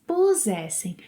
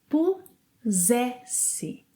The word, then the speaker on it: pusesse: Eu pusesse, Você, ele, ela pusesse. Nós puséssemos. Vocês, eles, elas pusessem. Prestem atenção à pronúncia. Primeiro temos um som de Z. E depois um som de S. Então, eu pusesse.